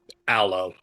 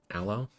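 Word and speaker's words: Allo: now we'll we'll say his name is uh alo alo okay a l l o uh Ario will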